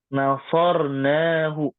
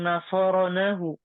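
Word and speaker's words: نصرناه: Betul. Nasornahu. Tidak mungkin kita bilang nasoronahu. Tidak mungkin.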